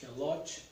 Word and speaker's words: Lot: Abraão, tem uns que falam que é Lot, se escreve L-O-T.